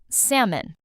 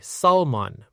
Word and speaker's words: salmon: Salmon. This word has a silent L. A lot of learners say salmon, but native speakers say salmon. Let's practice. Sam un together.